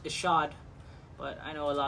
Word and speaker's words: Ishod: It's actually pronounced Ishod, but I know a lot of people say Ishod.